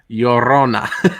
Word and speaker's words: Llorona: La yo, like hey yo. Yo. Yeah. Rona. Llorona.